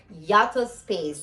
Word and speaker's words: Yataspeace: with this um yes yeah yup oh you pronounce it yactos yato space forgive me yata space so they're african lime and i found some